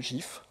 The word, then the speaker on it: GIF: et à regarder des gifes qu'elle a préparé donc ça va être un peu pourri désolé première chose comment ça se prononce alors la réponse on la connaît tous Voilà c'est gif pas gif euh il y a